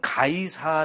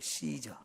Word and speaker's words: 카이사르: 황제가 2대 황제 우리말로는 가이사 라고 번역이 됐는데요 영어로는 시저 라고 의해 씨저 그런 로마 말로는 카이사르 이렇게 하는데요 발음이 조금씩 다르죠 예 로마 얼레 말로는 카이사르 영어로는 씨저 우리말로는 가이사 이렇게 번역이 되어 지는데 어쨌든 이